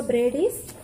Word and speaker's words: Brady: he told what was the name big joe brady's restaurant yesterday i mispronounced it sorry the correct pronunciation is brady